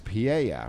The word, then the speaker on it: Pyeya: The name of the band is Pyeya, which is spelled P-Y-E-Y-A, which is, I guess you don't have a manager, right?